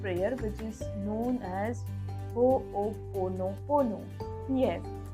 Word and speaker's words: Ho'oponopono: But yes, it is a different kind of prayer, which is known as Ho'oponopono. Yes, it's a bit difficult to just pronounce it, but once again I will say it. It's Ho'oponopono.